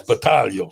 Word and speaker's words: Balo: that's right Marco Balo did I say your name right Balo yes you did not patago no it's Balo true Italian Mark is